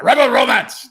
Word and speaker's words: Rebel Romance: But, in order to say it, you got to say it like a German. Rebel Romance.